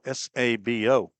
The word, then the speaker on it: Sabo: And Rhodes quickly ahead to the left-handed hitting Wade Sabo, S-A-B-O. There's no silent letters in Sabo.